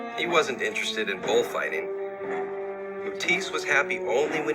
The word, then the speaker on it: Matisse: buy his creations okay so I've been pronouncing this as mood TC its Matisse I just realized but